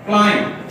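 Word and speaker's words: climb: एम के बाद आएगा, हम बी को साइलेंट कर देंगे, लिखेंगे लेकिन पढ़ेंगे नहीं, प्रोनाउंस नहीं करेंगे। क्लाइंब, ठीक है, क्या पढ़ेंगे?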